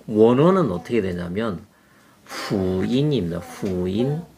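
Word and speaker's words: 福音: 이게 한국산이 아니고 이제 외래어인데 원래 이 복음의 그 원어는 어떻게 되냐면 후인입니다. 후인. 제가 중국 발음으로 후인입니다.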